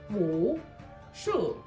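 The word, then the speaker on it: 武术: Wushu. In Chinese, the tones for wushu, sei, are third tone followed by fourth tone. Here is exactly how to pronounce them. Wu, si, third tone. This is a dip.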